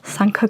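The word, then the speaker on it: Sanquhar: reminded me of the is it Sanka it's pronounced the Scottish um Sanka gloves which um have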